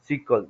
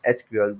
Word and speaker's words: SQL: Another thing is that non-procedure type of the language consists of SQL. We can also pronounce it as an SQL. Both are the same thing, which stand for structured query language.